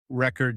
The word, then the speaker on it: record: For example, the word record is pronounced differently depending on its use. Record noun versus record verb.